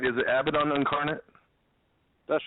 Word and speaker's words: Abaddon: Are we pronouncing your band name right? Is it Abbidon incarnate?